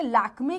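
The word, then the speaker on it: Lakmé: लेके आया है ना लैक मी नहीं बोला लैक में बोला तो ए का साउंड यह यह लेकर आया समझे तो ये होता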